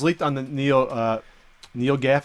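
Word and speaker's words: NeoGAF: on the Neo uh Neo Gaff is how you say it their forms I think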